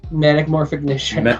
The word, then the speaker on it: Metamorphignition: Metamorphignition. Okay. Yeah. I was like, I can never pronounce that. It's right, it's metamorphosis plus ignition.